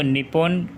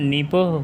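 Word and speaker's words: 日本: बाहर नहीं ए शक्ति अगर आप इसे इंग्लिश में लिखा हुआ देखेंगे तो निपुण करके प्रोनाउंस करेंगे लेकिन इसकी असली प्रनंसीएशन निप्पों होगी ऐसे ही चीन के लिए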